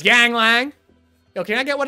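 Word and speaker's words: Yuengling: It's Y-U-E-N-G-L-I-N-G, Yingling. The way we like to pronounce it in college was Yanglang.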